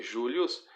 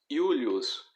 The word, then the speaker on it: Iulius: A letra J, ela é pronunciada como I. Então, ao invés de você dizer Július, você vai dizer Iulius.